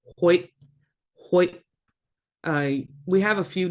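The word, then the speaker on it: huyʔ: And you will always hear people pronouncing it like this, Hoyt, Hoyt. It's not how it's supposed to be pronounced. There's no T at the end.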